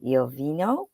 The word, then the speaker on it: Iovino: just wanted to welcome my guest today Gina yovino did I pronounce that last name correctly did you did